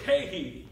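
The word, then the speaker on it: καί: And then when I learned the end that's in between these words, it's a Greek word, kai. It's spelled K-A-I.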